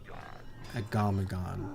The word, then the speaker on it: Gnomeregan: Gnomeregan, that's how you pronounce it.